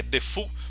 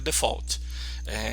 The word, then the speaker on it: default: escreve nada é default aí o pessoal costuma falar que é de fofo mas é a pronúncia correta de forte quando você não escreve nada é escrito assim o default escreve assim pessoal costuma pronunciar de fogo como se fosse francês mas a pronúncia inglesa default e quando você não